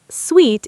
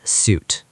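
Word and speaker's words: suite: Sweet is sweet, not suit.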